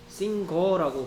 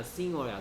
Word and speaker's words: singer: 싱거라고 발음하는 친구도 가끔 있는데 싱거 아니야 싱어야 싱어.